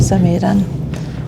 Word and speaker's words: Samedan: So from K I'm on this one for 45 minutes to Saman which I have learned how to pronounce from the different announcements because I definitely